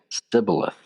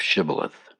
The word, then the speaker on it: shibboleth: But the Ephraimites, due to their dialogue dialect, they could not pronounce the sh sound, and they would say sibboleth instead of shibboleth. This identified them as an enemy, and they were killed on the spot. And there was a resulting 42,000 casualties. So, if anybody ever ask you to pronounce shibboleth, make sure you throw that sh in there.